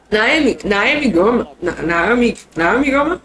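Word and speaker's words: Naomi Girma: I'm already looking towards the draft picks, but we have the two new teams coming and the expansion teams, and you know, Naomi Gurma, that's how you say her name, Miss Gurma.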